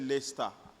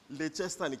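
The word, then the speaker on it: Leicester: Uh man, you I used to call it Leester. You can't blame me. It's not Leester. You know when I found out is when my friend came back from the UK and he said Leester Leester spell Manchester Leester but I can't blame them too.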